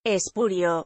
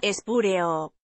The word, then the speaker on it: espurio: inclusivo educación inclusiva 7 espurio muy utilizada con valor de falso apócrifo suele ser pronunciada espúreo siempre se la pronuncia erróneamente profe jiménez la primera